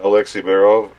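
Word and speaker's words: Alexei Barov: Yeah, Alexei Baerov.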